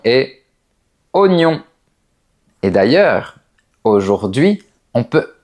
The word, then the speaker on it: oignon: Autre mot très connu, on retrouve les lettres o et i qui forment généralement le son wa, comme dans toi et moi, mais pas dans ce mot. Ici, on dit oignon.